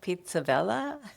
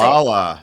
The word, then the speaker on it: Pizzaballa: from Jerusalem, yes, Cardinal Pizzabella. Is that how you say it? Pizzaballa, yes, Pizzaballa.